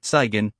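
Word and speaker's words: цыган: Then a gypsy sigon only they pronounced it sen with the stress on the first syllable came writing and he too did the same.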